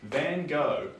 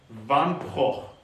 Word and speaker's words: Van Gogh: Gogh is American but if you want to say it like a Dutch set which is technically the correct way you want to say van so instead of Van Von oh oh van po that's how you say it well if you're